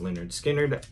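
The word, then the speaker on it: Lynyrd Skynyrd: my copy of uh linard Skinner's pronounced Leonard skinnard album their debut and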